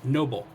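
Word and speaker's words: NoBull: support uh business called Noble uh sounds like the word noble but it's spelled capital n o capital b u l l so it's kind of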